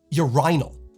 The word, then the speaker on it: urinal: In the UK, it's more common to hear urinal, with the accent on the second syllable with a long I.